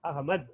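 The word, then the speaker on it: अहमद: Third the. The third the you have to write. You will pronounce as id. I have ma id. Ahmad. Okay? இந்த தமிழ்ல நம்ம எழுதும்போது I have ma du அப்படின்னு எழுதுவோம். But In Hindi, we write as Ahmad.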